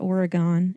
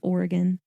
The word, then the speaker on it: Oregon: Oregon, it's not Oregon, it's Oregon, was admitted as the 33rd state of the United States.